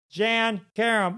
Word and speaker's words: Jann Karam: million things million things welcome to the show Jan Karem what's up yay you got it right you said it right and uh Curb Your Enthusiasm most recently feed them 12.